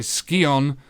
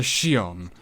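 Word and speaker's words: Scion: Yes, it is in fact called a Skion, not a Shion.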